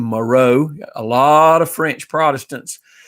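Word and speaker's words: Marot: some people pronounced it marat m-a-r-o-t it's french named moreau a lot of french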